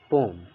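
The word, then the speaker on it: poem: तो ठीक है, आप ए रखिए लेकिन पोएम लिखिए, और इसका करेक्ट प्रोनाउंसिएशन है पोम, ओके।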